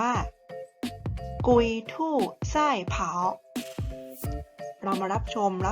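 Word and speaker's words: 龟兔赛跑: ว่า กระต่าย กับ เต่า ภาษา จีน ออก เสียง ว่า กุย ทู ไส้ เผา เรา มา รับ ชม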